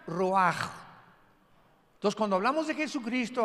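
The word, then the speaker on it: רוח: como suena con R de Raúl, ch al final, Rash y se pronuncia Roaj.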